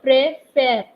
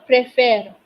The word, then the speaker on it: préfère: So you see, je préfère. There's a difference in the pronunciation of first E and second E. Je préfère.